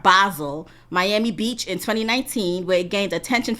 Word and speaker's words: Basel: debuted that Art Basel even though I spell that says basil to me but I'mma Be I'm say it like they say art basil Miami Beach in 2019